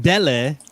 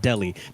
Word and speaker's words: Dele: I think Dele, all right, I'm saying it right, not Delhi.